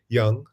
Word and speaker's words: Jung: You call Jung, I think you say Carl Jung. Yeah. We in Europe, we tend to say Jung, as in the German.